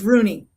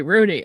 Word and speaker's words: Rugne: Uh, it's Rooney. The G is silent. Ah, silent G. Rooney.